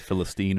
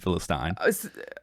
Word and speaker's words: Philistine: Yeah, well, two pronunciations, Philistine and Philistine. Phyllis, it has both, Yeah. depending on what side of the pond you're on.